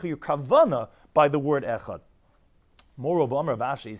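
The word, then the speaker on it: אחד: If you're going to say echad, you're going to do it very quick. You're going to say the ches with a shva, you're not going to be pronouncing it correctly. So although you're supposed to be lengthening on the dal, not on the ches, but don't quickly say the ches too fast, because you want to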